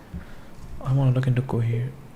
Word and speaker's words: Cohere: I want to look into Cohere. Cohere. Not go here.